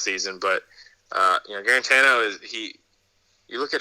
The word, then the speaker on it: Guarantano: get out of guarantano am i saying that right guaranto guarantano i've heard it said so many times you're saying it right and and yeah it's